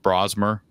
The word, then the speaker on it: Brosmer: And when this game fell on the schedule, I believe it's pronounced Brosmer, Max Brosmer, the New Hampshire transfer.